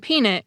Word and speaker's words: peanut: But if you say mean it and peanut quickly enough, the rhyme works.